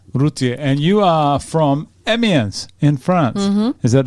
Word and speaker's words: Amiens: And you are from Amiens in France. Mm-hmm. Is that, do I pronounce that right? Amiens, yeah.